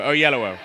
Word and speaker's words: Oyelowo: Oh, on both sides of yellow. Oyellowo.